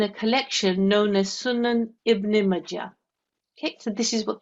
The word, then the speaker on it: Ibn Majah: IBN Majah Hadith N925. Okay, well done. Okay, so this is pronounced as Ibn Majah.